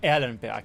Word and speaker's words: Erlenberg: In the rework of Erlinburgg or Alenburg, if you want to use the German pronunciation, the first big change which happened is the castle had a renaissance.